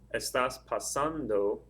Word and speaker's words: estando: you say the word the stresses over that second a so estando would be the word and since the Ando